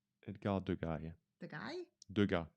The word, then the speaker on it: Degas: Degas. No, Degas. Yeah. Good. You don't pronounce the S anyway.